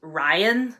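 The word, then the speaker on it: Rayan: And along with Litel comes Ryan. I believe that's how I pronounce his name. I was just saying Ryan in my head, but it's spelled R-A-Y-A-N, but whatever.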